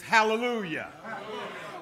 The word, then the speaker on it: hallelujah: The psalmist says in the Hebrew, Halal Yah, which pronounced in the English is hallelujah.